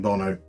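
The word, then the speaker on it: Bounou: yasim Bono do we know anything about Yasin Bono other than his name is spelled boonu but pronounced Bono know um there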